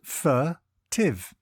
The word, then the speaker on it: furtive: furtive it is pronounced furtive and is spelled f u t t i v e think fur and then tiv before we get into